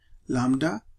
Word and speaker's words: lambda: of course one parameter lambda and uh remember that when you pronounce it that b is not pronounced you say lambda which is the rate